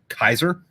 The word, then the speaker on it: Caesar: know yeah and then the way that caesar was actually pronounced was kaiser yeah yeah yeah like